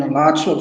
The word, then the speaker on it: Alachua: How do you pronounce it? Well, North Florida, but I'm in Alachua, Florida, in between Gainesville, Florida.